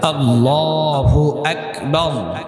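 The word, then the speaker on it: الله أكبر: দিলে কি হয়ে যাবে নামাজ ফাসেদ হয়ে যাবে আল্লাহু আকবার উচ্চারণ করি সবাই জবানে উচ্চারণ করি আল্লাহু আকবার কি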